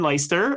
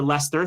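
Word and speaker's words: Leicester: They just had someone go to finder who ultimately found finds him himself and in Lyster uh or Lester. Thank you. I my pronunciation is not great.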